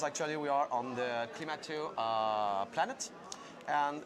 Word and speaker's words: Klimato: How do we pronounce this? Klimato. Klimato.